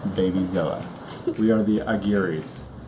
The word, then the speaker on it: Aguirre: We are the Aguirres. Or if you can roll your R's, it's Aguirre.